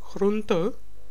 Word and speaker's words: groente: Vegetables are called groente in Dutch and is a little softer. Groente, the last N.